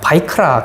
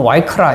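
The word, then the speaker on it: ויקרא: 세 번째는 또 다른 학자들이 이 레위기를 뭐라고 하느냐, 바이크라 그렇게 합니다. 또는 와이크라 이렇게 합니다. 이 바이란 단어, 바이크라, 와이크라, 이건 발음하기에 따라 약간 차이가 있는데요.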